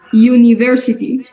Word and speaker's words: University: una vocal dice Okay cómo pronunciamos esta palabra University muy bien no decimos universalía que como universidad no ahí es prácticamente como si tuviésemos nosotros podríamos decir como una ye no tan yo no como Yuca